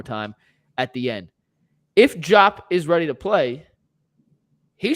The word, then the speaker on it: Diop: I never say it right. It's Diop.